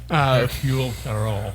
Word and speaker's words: Hercule Poirot: Hercule Poirot. Yeah. That's how you pronounce his name.